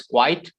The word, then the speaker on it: quite: quite quiet quite quiet there are two different pronunciations one is quite here it is quiet okay quiet okay quite